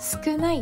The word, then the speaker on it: 少ない: かけです送り仮名のないをつけると少ないと読みますペンネームえしゅ少ない